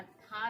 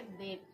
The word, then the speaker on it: they: THEY, या था नहीं पढ़ के दे दा पढ़ते हैं, है ना? और यहाँ पे वाई चुपचाप बैठा हुआ है।